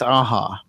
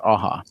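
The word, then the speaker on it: Aja: Aza I think it's aha because he's he's Spanish I think it's pronounced aha oh interesting okay I just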